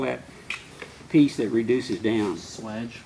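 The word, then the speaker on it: swage: piece that reduces down Swedge Swedge can you spell it s w e d g e no no no oh s SW a g e yeah it's got a different spelling Swedge swge West a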